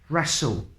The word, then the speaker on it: wrestle: wrong wrath rap wreck wrestle Ragle without all without the W sound wrinkle raced Ryan Greek